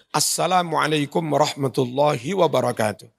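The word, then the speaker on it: السلام عليكم ورحمة الله وبركاته: Itu kum dipanjangkan. Assalamualaikum warahmatullahi wabarakatuh. Padahal harusnya Assalamualaikum warahmatullahi wabarakatuh. Kan gitu.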